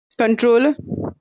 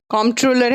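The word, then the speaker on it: comptroller: कंट्रोलर, कॉम्ट्रोलर है लेकिन उसको पी साइलेंट रहेगा। ठीक है, कंट्रोलर एंड बोलेंगे, कॉम्ट्रोलर नहीं बोलेंगे उसको।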